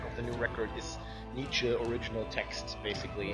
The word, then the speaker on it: Nietzsche: Am I getting the pronunciation right? Nietzsche, yeah.